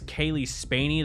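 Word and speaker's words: Cailee Spaeny: I think the strongest part of the movie is the brother and sister duo, played by, I think it's Kaylee Spaney, that's how you say her name, and David Johnson.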